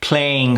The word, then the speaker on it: playing hardball: Playing hardball. Now, that first sound, play, A. This is the sound a lot of my clients miss. Instead of giving it the full playing, they tend to go halfway, playing, playing.